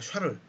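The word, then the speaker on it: Charles: 완충 할수없지 인데요 그렇게 않았고 이제 프랑스 하니까 샤를 프랑스의 ch 를 언어 샥 어그 sch 발음이 납니다 살을 쓸어 롤로 란게 있는데 이것은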